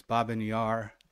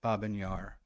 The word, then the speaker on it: Babyn Yar: and Ukraine uh his binar and that's how we are pronouncing it binar for a number of